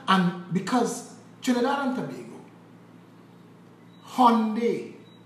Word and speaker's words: Hyundai: because Trinidad and Tobago, Hyundai is how it's pronounced, is the largest manufacturer of ships and boats in the entire world.